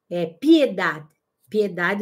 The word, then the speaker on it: Piedad: Tem uma outra psicóloga que eu gosto muito, espanhola, Piedade, o D é mudo, né?